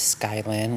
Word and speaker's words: Skyilynne: My name is Skylyn, which is spelled Skyillynne.